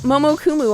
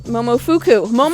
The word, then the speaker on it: Momofuku: Shoot, Momokumu, I think his name is. Momokumu? Momofuku. Fuku, yeah. Yes, Momofuku. Momofuku.